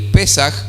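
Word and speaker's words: פסח: palabra pascuas es un término en hebreo se pronuncia a pesar el pesaj significa pasar de largo y pasar de largo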